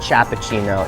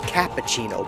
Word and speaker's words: cappuccino: all pronounce it correctly it's not Chapa Chino cappuccino Biff cappuccino if I would